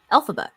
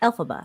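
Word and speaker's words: Elphaba: And also, in case y'all also didn't know about this, Alphaba is almost phonetically saying LFrank Bomb, who is the author of the Wizard of Oz. Okay, Alphaba.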